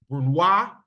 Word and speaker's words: brunoise: Badnay, julienne, small dice, brunoise is how you pronounce that.